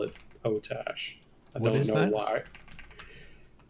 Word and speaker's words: potash: It's pronounced potash, not potash.